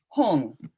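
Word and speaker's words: hum: jewel in the lotus hong or home h-u-n or h-u-n-g is usually a closer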